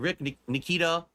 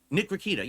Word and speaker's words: Nick Rakita: Like, we watched clips of Ethan, Ralph, and Rick Nikita. Rick Nikita? No, Nick Rakita. Yeah, that's how you say his name, right?